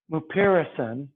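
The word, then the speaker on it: mupirocin: talk about in class called uh merpairison morrison is spelled m u p i r o c i n mupiracin you usually use a two percent ointment and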